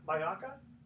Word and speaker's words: Majalca: Is that how you pronounce it? Majalca?